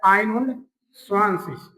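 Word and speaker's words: einundzwanzig: हमने पढ़ा क्या स्वाशिष तो क्या हो जाएगा आइन स्वाशिष आइनो स्वाशिष बिलकुल आसान है ना सेम की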